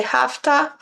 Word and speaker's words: have to: In informal conversation, we often pronounce have to, and has to, hasta. Many times people say hafta, hasta, hafta, hasta.